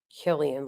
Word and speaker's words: Cillian: Is that pronounced Killian or Cillian? I'm non-denominational. I don't have a denomination. Killian, like killing.